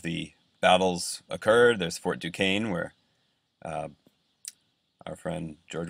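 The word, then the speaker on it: Duquesne: fired very first shots at that fort Force Duane is how you say that uh he lost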